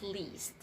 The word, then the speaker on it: least: And also for the word least, it should be the long E sound, so you have to say least.